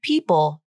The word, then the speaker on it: people: For example, the word people ends in a dark L, and when I pronounce it, I typically only say the first part of the pronunciation, the dark part.